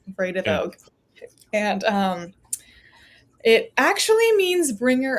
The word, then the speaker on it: Vredevoogd: A great way to remember how to pronounce it is Vray, Vray, which is not how it's spelled, but Vray, duh, and then Vogue, like the magazine, Yeah. Vredevoogd.